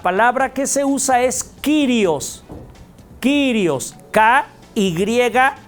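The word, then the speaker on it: κύριος: En griego, la palabra que se usa es Kyrios.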